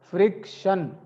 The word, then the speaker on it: friction: okay up very good friction friction and the t i o n if you see t i o n that means Shan the pronunciation is Shan frck Shan not FR